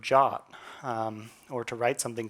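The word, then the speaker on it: JWT: A JSON web token pronounced like the English word jot um or to write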